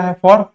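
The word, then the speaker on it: half: अगर एफ के साथ आता है तो भी साइलेंट होता है, फॉर काफ, हाफ, बहुत ही इजी है, काफ मतलब गाय बछड़ा और हाफ मतलब आधा।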